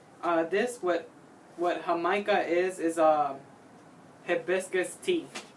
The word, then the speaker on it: jamaica: uh this what what her micah is is a hibiscus teeth is what it's called appropriately in english but in spanish it's called hamaika or in latin america it's called jamaica in espanol okay hey if anybody